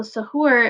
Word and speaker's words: suhoor: So suhoor, it was how you were supposed to say it. I said sarai, and that was wrong. Suhoor.